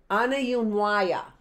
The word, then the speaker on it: Aniyunwaya: The Cherokee call themselves, Waya, Yunwaya, Aniyunwaya. Oh my gosh, I think I did it. Aniyunwaya. There's the word right there. How I pronounce that, early birds, if you remember, is I always take the last syllable.